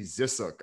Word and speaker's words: Zisook: to follow on twitter we got z zissook on the podcast welcome man dan thank you so much and uh you pronounce my last name correctly which no one